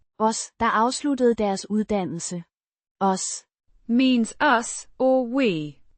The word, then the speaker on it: os: Os Means us, or we. It's the object form of the first person plural pronoun. Pronounced. Os. A short O. sound followed by a soft S.